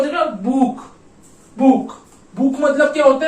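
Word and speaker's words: Buch: तो ये क्या हो जाएगा बुक, बुक, बुक मतलब क्या होता है बुक, ठीक है, बुक, बुक, इसका क्या बुक, बुक, बुक मतलब बुक।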